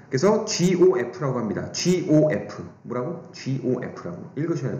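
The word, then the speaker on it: g∘f: 그래서 GOF라고 합니다. GOF. 뭐라고? GOF라고. 읽으셔야 돼요, 여러분이. GOF. 머릿속으로 읽고 있죠. GOF라고 읽어요.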